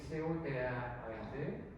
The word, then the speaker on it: Cotard: Le syndrome de Cotard, ça s'écrit C-O-T-A-R-D.